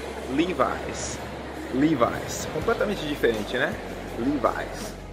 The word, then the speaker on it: Levi's: Pois é, acredite se quiser, mas em inglês eles pronunciam Levi's.